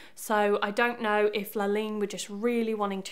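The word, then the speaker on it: La Ligne: The brand is, and I think I'm going to pronounce this right, Laligne. It's spelled L-I-G-N-E, La and then Lean.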